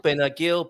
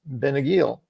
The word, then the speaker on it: Benagil: knew them I'm not I'm unclear a little bit on the G with the I but I think it's a hard G and the emphasis is going to be on the uh final syllable because it ends with L so I would say it's benagil benagil let's